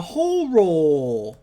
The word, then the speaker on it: horror: Oh no, it's a horror, which is that is the only way to say it. Horror. Yes, you need to pronounce both syllables, or else you get demonetized.